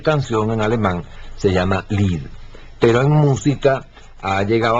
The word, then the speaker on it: Lied: Este Lied se escribe L-I-E-D, Lied, pero se pronuncia Lied.